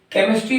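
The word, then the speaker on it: chemistry: क का उच्चारण करके केमिस्ट्री पढ़ने हैं यहां क का उच्चारण हम का करते हैं एक शब्द और देखेंगे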